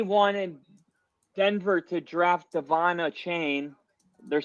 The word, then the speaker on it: Achane: got down this deep rabbit hole into Devon Achane. That's how it, literally on Texas A&M's website, it showed you how to pronounce it, and it was like A-U-H chain.